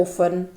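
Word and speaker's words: often: इसी तरह एक वर्ड आता है ओफन, ओ एफ टी ई एन, यहाँ पर जो थर्ड नंबर पे है टी है दैट इज साइलेंट।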